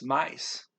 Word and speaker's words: mais: The word for more is mais. M-A-I-S, mice.